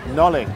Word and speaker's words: Nollaig: no uh no no it's an Irish name Nole yeah how do you spell it n o l l a i g